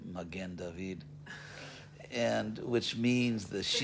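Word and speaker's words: מגן דוד: local synagogue, which is Mogan David up on Pico near Beverville. And actually, when I went to Israel and I said Mogan David, they all started laughing because it's actually Magen David.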